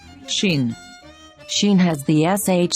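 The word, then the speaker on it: שׁ: know these final letters sheen sheen has the sh sound of shu sho shai or sheep sheen has a dot on the top right side scene has the sound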